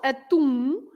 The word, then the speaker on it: atum: because atum, if you consider the M is not there to be read as an M, the U is the last sound, but it must be a nasal right?